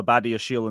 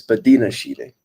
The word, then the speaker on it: Badiashile: high line with Silva, Badiashile, and Disasi, and wondered why we got battered all game. oh, Now, say, don't remind me. now, say his name correctly. It's not Badia Shile, it's Badina Shile.